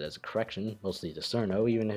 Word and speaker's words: Cirno: Now, this pronunciation accounts for the fact that this is a word in English as well as Japanese origins. Chur-no is simply too long or too unnatural, or the simple spelling is C-I-R-N-O. Of course, like many loan words, we can't exactly ignore the origins like those who say it's Cirno. This is why Chur-no is the best pronunciation. It's based on the Japanese pronunciation, reasonable for the English spelling.